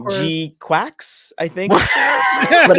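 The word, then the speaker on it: GQuuuuuX: I'm very happy that the article I found actually spelt out how to pronounce it properly, because I was like, Oh, did they? Okay. Yeah, G Quacks.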